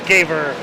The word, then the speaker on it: Gaver: According to the coach, her last name is being pronounced correctly as Gaver.